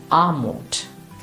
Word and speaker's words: Armut: Or in this word, it is armut. So whenever you see R, just make it slightly long.